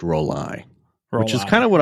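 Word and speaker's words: Rollei: It's supposed to be pronounced roll-eye, which is kind of what I suspected, but I don't know that anyone...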